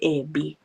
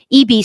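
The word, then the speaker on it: Eby: Ano British Columbia Premier David EB EB pala ang pag-pronounce non. Akala ko dati EB.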